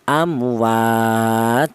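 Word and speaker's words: أموات: Berhubung ini tanwin domah maka disukunkan ya cara bacanya amwat seperti itu diarti huruf ta ini mati.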